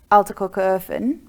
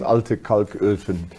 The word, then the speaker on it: Alte Kalköfen: But continuing on then up the B1, you'll come to Altekokerhofen. Yeah. Am I saying it right, correctly? Yeah. And that's where the coal lithoporium is, which So it's Alte Kalköfen, but yeah, you're quite close, I'll so don't worry.